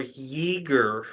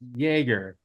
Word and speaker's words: Jagger: brothers and now Mason is it Jagger or Jer it's Jagger Just because near a